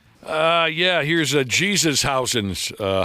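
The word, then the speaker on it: Jesús: Uh yeah, here's a Jesus. Uh how do you say that Josh? Jesus.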